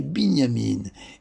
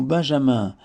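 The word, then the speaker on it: Binyamin: naissance avec deux youudes pour le prononcer bignamine et non Benjamin avec un seul seul yude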